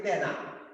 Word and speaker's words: তেনা: এরকম কিছু দেশি শব্দেও এরকম হয়, যেমন আমরা লিখি তেনা, উচ্চারণ করি তেনা, ঘর মুছার তেনা, বা ছেঁড়া কাপড় তেনা হয়ে গেছে তেনা।